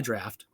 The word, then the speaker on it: draft: 1 out of 10, he'll hit the T at the end. The T's not fucking silent, Roger.